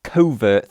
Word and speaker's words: CVRT: Apparently this is pronounced as covert 3775A with I'm guessing the number being associated with the fact that this watch has a 37.75 mm case.